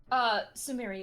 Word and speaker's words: Sumire: And in, Sumere, is that how you pronounce her name? Sumeri, yeah. Sumeri. Okay. Sumi. I'm just gonna call her Sumi. Sumi. Yeah, that works. Sumire.